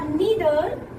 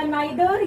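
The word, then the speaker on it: neither: Positive होता है, और नीदर नेगेटिव भी होता है। ठीक है, तो आइदर या नाइदर या ईदर या नीदर दोनों प्रोनाउंसिएशन करेक्ट है।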